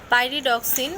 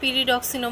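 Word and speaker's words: pyridoxine: তো vitamin B6 যেটা, এটার যে নাম সেটা হচ্ছে পাইরিডক্সিন, কেউ কেউ আবার পিরিডক্সিনও বলে থাকে, যেটা উচ্চারণ যেভাবে করা হয় যে পিরিডক্সিন।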